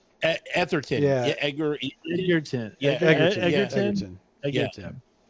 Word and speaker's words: Egerton: He played Etherton. Yeah. Edgar. Egerton.